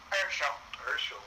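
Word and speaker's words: Earshel: Now, Sally tells me that Ursula, how do you say it? Ersel. E-A-R-S-H-E-L.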